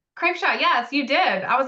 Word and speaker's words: Krapcha: happy to be here and I hope I pronounced your name correctly KRA Shaw yes you did I was like this is